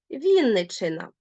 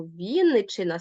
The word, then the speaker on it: Вінниччина: і так само Вінниччина так зверніть увагу Вінниччина ставимо наголос в нас дві букви н і дві букви ч так от два звуки довгі дві букви е мають звук звук ненаголошений тобто він матиме призвук ось трошечки не там поставила призвук вибачте Вінниччина ось тут ми ставимо дві крапочки призвук раз і призвук два адже ми нечітко ці звуки вимовляємо Вінниччина вони ненаголошені ми їх вимовляємо нечітко Ну і звичайно знаєте